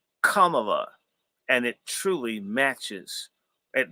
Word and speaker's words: Kamala: And that's that's actually the proper pronunciation. Kamala.